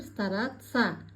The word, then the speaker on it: стараться: Произносим правильно пишется стараться произносим стараца пишется учиться говорим утица пригодиться пригодится акян казахстан мухит полезный пайдала Теперь отвечаем на вопрос: что сказал поэт?